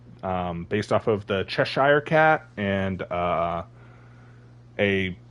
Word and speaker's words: Cheshire: was great but yes I normally pronounce it as chesher but people get ticked off if I don't say uh Cheshire or Cheshire Cat since that's apparently how that word is actually pronounced so yeah but yeah that